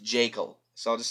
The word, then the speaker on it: Jaeckel: He's played by Richard Jekyll from Grizzly. No, not Dr. Jekyll. It's spelled Jaeckel, or maybe it's pronounced Jekyll.